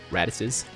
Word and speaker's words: Raditz: people clear this with uh two easy ant radices that's how you say it raddus anyways with into raditz i've seen it done